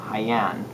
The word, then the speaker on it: Jaen: is 50 percent toriga nationale and 50 uh haiyan it's spelled like gene but it's pronounced like haiyan